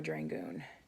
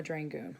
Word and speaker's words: Dragun: Mama Dragun. We're gonna see how that looks. Come on. Come on, Mama Dragun. Or it's Mama Dragon, isn't it? Sorry, I didn't mean to say it wrong.